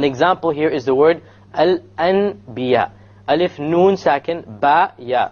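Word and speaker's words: الأنبياء: followed by a Ba, so we don't pronounce it Al An. We change the Nun into a Meme, and then we do a Ghunna. Okay, Al Anbiya, Al Anbiya.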